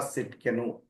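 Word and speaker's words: צדקנו: Jehovah Sidkenu. The Lord our righteousness means Jehovah Sidkenu. T is silent.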